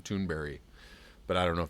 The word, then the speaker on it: Thunberg: Still hearing differing ideas about how her name is pronounced. I've heard her directly say her name, Thunberry, but I don't know if that's right or not.